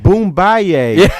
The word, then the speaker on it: Boombayey: white then Oh No okay we're doing it phonetically for everyone wow this is baloney boom bye-yay is a take-off of the word boom bye-yay